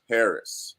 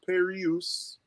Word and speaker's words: Pereus: to my guy paris uh not perry use it's paris pronounced just like the country uh my man